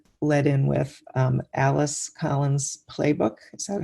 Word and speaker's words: Plebuch: So let's talk about the story that you led in with, Alice Collins Plebuch. Is that how you pronounce it?